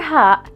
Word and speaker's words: هاء: The letter Ha is equivalent to the letter H in English, as in house, hint, or hat, and not as in hour.